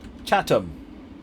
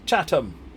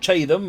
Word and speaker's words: Chatham: you very much indeed but much appreciated Chatham is how it's pronounced Chatham not che them or anything posh like that nothing posh about